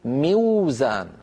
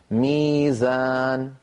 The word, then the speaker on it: ميزان: وزن مفعل لابد ان نقول موزان موزان موزان موزان لكن العرب لا ينطقون ساكنه قبلها مكسور لذلك يقلبون هذه الواو من اجل الكسره التي قبلها الى ياء فيقولون ميزان عندنا ايضا كلمه ميعاد مشتقه